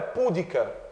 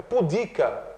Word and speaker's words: pudica: perde acento falso pudica a palavra não é pudica É pudica né então Errado letra b